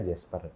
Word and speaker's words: Jasper: Banyak orang yang ngomong Jasper sih. Jasper. Biasanya sedikit orang yang ngomongnya pakai Jas gitu. Jadi pada banyak kan pakai Jasper gitu. Jadi pronounce-nya biasa Jasper. Biasa aja sih.